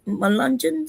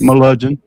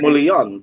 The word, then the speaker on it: Melungeon: Melungeons? Melungeon. I think Mulian the whole time, like the Italian Mulian. Oh, no, like what he said. The hillbilly way is Melungeon.